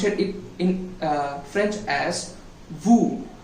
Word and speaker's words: vous: And you in plural form in English, that we need to pronounce it in French as vous. It spells V-O-U-S, but we need to tell it as ou.